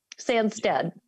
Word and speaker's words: Sandstede: Silent E at the end. So which one is that? Sandstede. Sandstede.